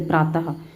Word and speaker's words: प्रातः: ये जो चिन्ह मतलब ये जो लगे हुए हैं ये विसर्ग हैं, जिसका उच्चारण जो है ह की तरह होता है, जैसे प्रातः।